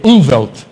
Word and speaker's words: Umwelt: Na Alemanha, eu não vou pronunciar do jeito correto, mas é U-N-W-E-L-T, Umwelt.